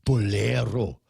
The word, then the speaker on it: bolero: i'm so bolero okay you're not pronouncing it right you almost have to say it with disgust you always get oh you're so bolero you've got it you've got to throw the angry spanish sound in the in between